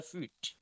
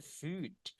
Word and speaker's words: food: Don't forget everyone, when you want to pronounce food, makanan it's like food. D-nya kayak ada letupannya. Food. Food food. Food. It's really important to talk like this. It's because we can make it different between food makanan dan food telapak kaki.